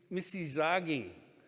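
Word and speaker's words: Misi-zaaging: ontario and uh miss missy zagging is how you pronounce that and those are the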